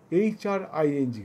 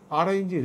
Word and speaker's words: হ্রিং: ওং, ONG ওং, OM নয়, ONG ওং, হ্রিং HRING হ্রিং, RING রিং নয়। অনেকে ভুল উচ্চারণ করে, OM বলে, RING বলে, এগুলো বলবে না, এগুলো ভুল উচ্চারণ।